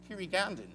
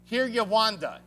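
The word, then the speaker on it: Kinyarwanda: They speak Kirigandan. Kirigandan? How do you pronounce it, Chad? Kiryawanda.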